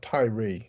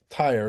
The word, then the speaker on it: Tyre: the time frame of Tyrie when it was or I keep saying Tyrie. Tyer is the correct pronunciation when Tyer was taken down but this is part of the prophets of it in 28.